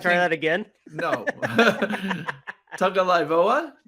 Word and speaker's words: Tagovailoa: Tagovailoa? Is that how you say it? Tagovailoa. Okay. There you go.